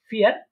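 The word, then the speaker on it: vier: ঠিক আছে, অনেকে বলতে পারেন যে এটা তো ভি, কিন্তু এটা ভি না, আমরা দেখেছিলাম যে জার্মানরা এটাকে ফাও বলে থাকে।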